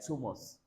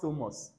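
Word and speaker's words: Thomas: are transcribing people like names like tumos too not thus people think it's thus when you pronounce the t with you know air coming out from your mouth no it's wrong it's normal when is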